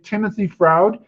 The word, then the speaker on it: Timothy Froude: And I've got on the phone today Timothy Froude. I think I said your name right, Timothy. Thank you for joining us today. Thanks for having me, Alan, and you did indeed pronounce it correctly.